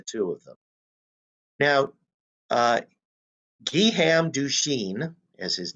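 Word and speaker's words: Guillaume Duchenne: difference between the two of them now uh giham dushin as his name is pronounced is out experimenting and you see what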